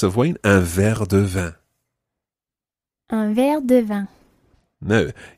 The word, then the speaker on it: vin: Vin. Vin. Le vin is wine.